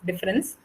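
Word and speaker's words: différance: So Derrida humors himself in the fact that the A in difference is only read but cannot be heard, and therefore the French word difference, the English word of difference, and difference spelled with an A are pronounced the same.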